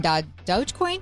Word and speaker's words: Dogecoin: What about putting your emergency fund in dogecoin?